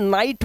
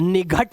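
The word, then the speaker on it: night: आपको टा पढ़ना है इसलिए यहां पर एन आई जी एच टी के अंदर इसे हम नाइट पढ़ते हैं निघट नहीं पढ़ते क्योंकि जी एच से घ बनता है।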